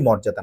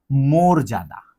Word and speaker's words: মর্যাদা: ঠিক একইভাবে এই যে এটির উচ্চারণ আমরা বলি আমরা বংশের মর্যাদা রক্ষা করব, এটা মোটেই মর্যাদার না, এটা হচ্ছে মর্যাদা।